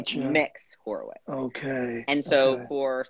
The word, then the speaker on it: Mx: is that yes pronounced mix as in mixed like a cake okay okay like am